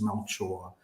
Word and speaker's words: Melchor: And I'm pronouncing it correctly. It is Melchor, Melchor.